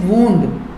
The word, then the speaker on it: wound: This is वूंड, इसका pronunciation वूंड, जिसका मतलब है जख्म और घाव।